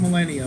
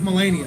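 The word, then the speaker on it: Malenia: And you will need help with Millennia because she is ridiculous. Melania. Melania. Like she. No, actually, it's Melania. That's how you say it.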